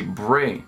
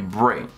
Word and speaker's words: Bre: Eles conseguiram, e tudo bem, a pronúncia desse Bray é assim, é Bray. Se fosse B-R-E-E, dois E's, seria Bree. Mas da forma que tá aí, é Bray.